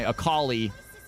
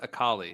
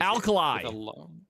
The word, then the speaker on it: Akali: Cal, how did you used to pronounce Akali? I'm curious. Alkali. Alkali was was my go-to.